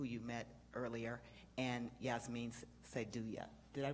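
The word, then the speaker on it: Syedullah: Rod Owens, who you met earlier, and Yasmin Saidulla. Did I pronounce her name correctly? Sadullah.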